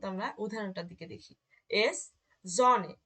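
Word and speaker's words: Sonne: এস, জনে।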